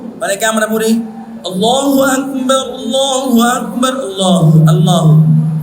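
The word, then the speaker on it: الله أكبر: আল্লাহ হা উচ্চারণ করে দেখেন তো হা উচ্চারণ করতে হবে না করতে হবে না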